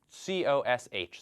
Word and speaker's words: cosh: So the notation here, we write COSH, so the H for hyperbolic, so hyperbolic cosine, and usually we pronounce this cosh.